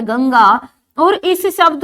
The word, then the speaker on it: गंगा: जाता है क्या दोस्तों इसको गड़गा कह दोगे आप ये गड़गा नहीं है ये क्या है गंगा है आपकी यानी अंग का उच्चारण आता है न कि अड़ का उच्चारण होता है तो इस